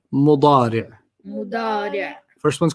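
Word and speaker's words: مضارع: And then the present is mudari'. Mudari'. Mudari'. You don't have to pronounce the tanween, just mudari'. Mudari'.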